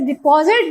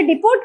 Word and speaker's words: depot: जहां चीज डिपॉजिट या जमा होती है उसे डिपोट कहते हैं। टी साइलेंट होता है तो डिपो बोलते हैं उर्दू में। जखीरा, you will have been getting floor from the डिपो। टी लिखा जाएगा, बोला नहीं जाएगा।